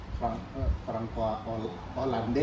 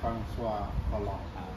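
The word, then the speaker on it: François Hollande: itu FR ya Han itu FR hande kalau kita bacanya tapi yang benarnya franois holl Mas Solong ee jadi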